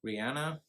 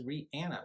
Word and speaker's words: Rihanna: Powers Goldmember dream girls and obsessed we have Rihanna and I actually was doing some research recently on how to say her name because everyone says Rihanna but everyone's awesome one says Rihanna so I said I'm just gonna look up